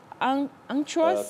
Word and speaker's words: unctuous: You begin with the sounding ang, then you go to unct. So you say unctuous. Unctuous first. Unctuous. Then unctuous. So you have what we call now the alternative pronunciations of that word, Betty. Unctuous or unctuous.